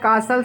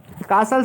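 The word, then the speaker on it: castle: पहला है कासल सिंदा एयर। कासल सिंदा एयर माने होता है हवा में महल बनाना, कासल माने होता है महल, ठीक है, टी साइलेंट है इसमें।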